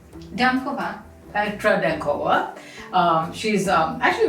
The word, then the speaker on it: Dankova: Dankova.